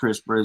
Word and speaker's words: CRISPR: so all right now the popular usage crispr pronounced crispr is shortened for crispr